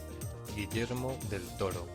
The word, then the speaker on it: Guillermo del Toro: Is it Guillermo del Toro? Guillermo. Let's see. They didn't roll the R though. I don't know if we can trust that.